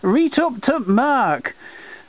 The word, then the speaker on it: Reet oop t'mark: broadcasting so we got a winner record 3493 R up to Mark sung by Fred Gibson all about Lancashire yes that's how it's pronounced viewers especially for my laner viewers here